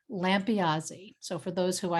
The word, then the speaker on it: Lampiasi: you may have heard how to pronounce my name correctly so i'll just do it one more time so it's that part's easy lampeazy so for those who